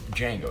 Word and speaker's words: Django: Okay, so it's Django.